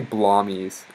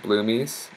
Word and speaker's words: Bloomies: He calls me Blommies. I don't know why. I pronounce it Bloomies.